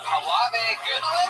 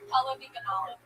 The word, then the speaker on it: Halavi Ganala: Fuck yeah, Halave Goodwin, am I saying that? How do you say it? Halave. You're an angel. That was very refreshing. Yes. How do you pronounce your name? Halavi Ganala. Halavi Ganala. Yeah. Got it.